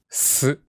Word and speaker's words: す: Please touch the lower teeth with the tip of your tongue. S.